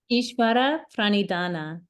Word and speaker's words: Ishvara pranidhana: Ishvara pranidhana.